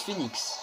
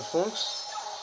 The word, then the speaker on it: PhenX: Bon, les gens, ils vont surtout prononcer ça Phanx, mais ça se dit Phoenix, donc voilà.